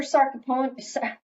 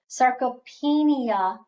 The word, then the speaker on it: sarcopenia: but push them so treatments for sarcophone why do I keep saying it wrong sarcopenia sarcopenia um you're not gonna